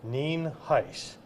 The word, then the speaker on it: Nienhuis: for their records I'm Hernando County Sheriff ninis it is spelled n i n hu i s and it is pronounced nen heis um first of all I want to lay